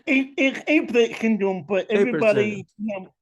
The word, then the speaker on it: Apert syndrome: He's a minister, a podcaster who has this rare condition called Alpert syndrome, if I'm not mistaken. It's Apert syndrome, but Apert syndrome. everybody pronounces it, differently.